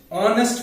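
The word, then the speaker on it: honest: একইভাবে যদি এরকম থাকে অ্যান অনেস্ট ম্যান, বাট অনেস্ট শুরু হচ্ছে এইচ দিয়ে, যেটা একটা কনসোনেন্ট, কিন্তু তার উচ্চারণটা কিন্তু হচ্ছে না, এইচটা সাইলেন্ট, তাহলে উচ্চারণটা কি হচ্ছে অনেস্ট ম্যান।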